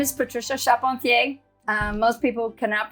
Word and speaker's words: Charpentier: to like And subscribe my name is Patricia chapon um most people cannot pronounce my last name I always spell it